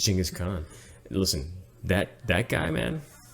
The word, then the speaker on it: Chinggis Khaan: jingis gone kangas phone actually pronounced Chinggis Khaan I'll disagree you can disagree is Chinggis Khaan listen that that guy